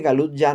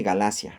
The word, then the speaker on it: Galacia: Este Galut ya no se dice así, se dice Galacia, realmente.